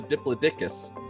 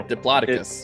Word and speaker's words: Diplodocus: moment i thought it was a diplodicus no diplodocus or what i would however